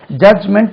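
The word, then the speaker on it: judgment: இருக்கலாம் both are allowed J யூ டி ஜி எம் இன் டி இ சேர்த்து கூட சொல்லலாம் ஜட்ஜ்மென்ட் அது ஜட்ஜ்மென்ட் இல்ல ஜட்ஜ் சொல்லக்கூடாது ஜட்ஜ் ஜட்ஜ்மென்ட் டி உச்சரிக்கக்கூடாது ஜட்ஜ் ஜட்ஜ்மென்ட் இதே மாதிரி நிறைய வார்த்தைகள்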